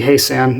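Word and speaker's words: Hyesan: It's from North Korea, specifically Haesan, is I believe how you say it.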